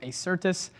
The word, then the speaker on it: Acertus: mr trent broberg he is the ceo of acertis trent thanks for joining the show and welcome